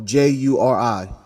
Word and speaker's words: Juri: No, Juri. Okay, what he said. Okay, so jury. Well, I knew it spelled differently, but I would say I pronounced it the same.